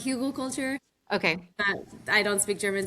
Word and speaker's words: Hügelkultur: It's a German technique. I pronounce it Hügelkultur.